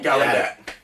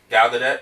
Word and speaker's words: Gal Gadot: Gal Gadot. Gal Gadot.